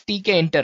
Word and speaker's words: Tkinter: Python and we have TK enter guys yes it's spelled as TK enter right so it's t k i n t e r guys well among all